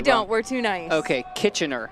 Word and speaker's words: Kitchener: feel like Canadians get really angry when you pronounce it wrong. We don't. We're too nice. Okay, Kitchener. Kitchener.